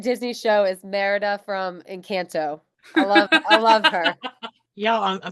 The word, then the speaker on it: Encanto: No, it's Encanto.